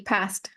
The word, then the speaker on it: past: didn't like to travel ah the T past in the past I did not hear the T in the past I